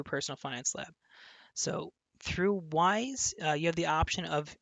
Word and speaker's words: Wise: mastery of personal finance wise or weiss it's actually wise w i s or w here let's see here w-i-s-e is the way it is spelled and that one is